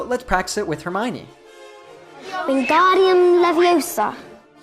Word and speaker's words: Leviosa: saying when guardium leviosa you should not pronounce leviosa with an open ah sound at the end but rather with a schwa sound so instead of saying leviosa you should say leviosa this is really useful